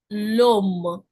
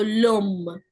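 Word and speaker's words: l'homme: For example loom lom what is happening ash is silent. So let's assume it doesn't exist. So I'm just connecting the sound of my article l with o. So lum.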